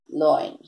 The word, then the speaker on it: Löwen: Loin. Loin is pronounced here and it is written here Löwen.